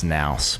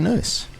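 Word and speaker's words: Nous: for some reason and every s every like fiber in my being wants me to pronounce noose as naous but it's apparently noose so without much further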